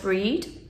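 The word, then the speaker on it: Brigid: is the Festival of bridgid uh sometimes pronounced breed and generally she was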